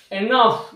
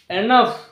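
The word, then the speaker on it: enough: ওয়ার্ডের শেষে থাকছে এবং জি এইচ মিলে যেখানে বাংলা ফ এর মত উচ্চারণ হচ্ছে সেখানে এই সাউন্ডটা উচ্চ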